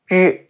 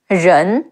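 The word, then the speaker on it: 仁: Your tongue is curled upward against the top of your mouth. Ren, Ren, Cao Ren.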